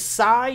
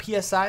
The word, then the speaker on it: Psi: the way the mod name is Sai not PSI I've been saying PSI s Sai uh I